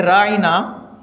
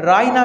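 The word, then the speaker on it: راعنا: आया सर बकरा में राइना का मतलब होता है हमारा हमारी रायत कीजिए लेकिन यहूदी आईन को लंबा करते थे और फिर इसको प्रोनाउंस करते थे जिसका मतलब जो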